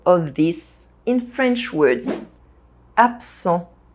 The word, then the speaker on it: absent: Absent. The rule is that the second consonant modifies the first. So the S sound modifies the B sound and it becomes a P sound.